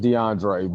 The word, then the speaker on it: DeAndre: It's pronounced DeAndre, but I go by Dre for short.